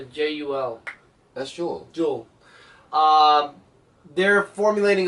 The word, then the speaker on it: Jul: Halsey teaming with the elite didac Jewel, how do you pronounce it? Jul.